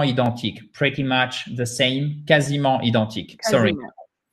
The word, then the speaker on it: quasiment: Pretty much the same, quasiment identiques. Sorry. Quasiment. So I'm glad I know how to pronounce quasiment now.